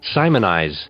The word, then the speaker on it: Simoniz: I'm curious Mariam Webster let's see how they pronounce it Simon here we go Simoniz all right Simoniz that's that's what we thought